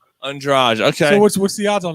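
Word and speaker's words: Andrade: that too but but the proper pronunciation is on draj andraj okay what's the odds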